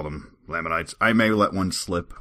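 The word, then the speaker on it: Lamanites: And another one, I seem to be able to pronounce layman correctly, but then I say laminites. And uh apparently I'm driving some people crazy with that. So officially from now on it is Lammonites.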